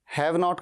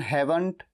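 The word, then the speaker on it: haven't: हैव नॉट का contraction हैवंट या हेवन। हेवन वैसे ही जैसे स्वर्ग को हम हेवन कहते हैं, बिल्कुल वही प्रोनाउंसिएशन।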